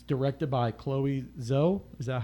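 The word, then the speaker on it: Zhao: the u.s november 5th it's directed by chloe zoe is that how you say her name zoe uh joe joe okay she's a chinese chinese director she's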